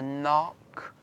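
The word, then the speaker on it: Cnoc: spell see NOC but it's pronounced not like knocking on a door haha is small mound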